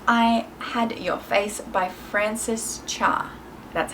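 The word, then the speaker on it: Frances Cha: and that's if i had your face by francis cha that's how you say it this has a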